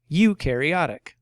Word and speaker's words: eukaryotic: or rivers or ponds this word is pronounced you care e attic eukaryotic eukaryotic cells contain a membrane